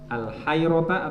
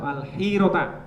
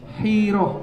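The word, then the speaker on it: الحيرة: Karena ada sopo dia Nadr, ada iku yakti datang al, bacanya apa ini? Al hayrota atau al hirota? Hiroh, al hirota.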